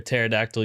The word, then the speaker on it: pterodactyl: Why can't you hear a pterodactyl using the bathroom? Why? Because the P is silent.